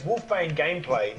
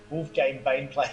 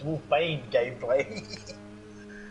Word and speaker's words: Wolfbane Gameplay: There's Wolfbane Gameplay. It took me ages to be able to say his name properly because I used to always call him Wolfgame Baneplay. But it's Wolfbane Gameplay.